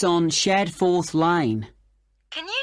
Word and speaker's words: Shadforth: the address of kangaroo Lodge yes it's on shadforth Lane can you spell that s h a d f o r